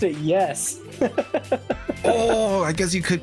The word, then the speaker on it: Ys: Ease, it's like YS.